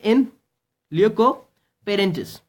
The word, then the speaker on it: in loco parentis: one more adverb and the pronunciation is in loco parentis okay it is in lyoko parentis so we call it in loco parentis we call it you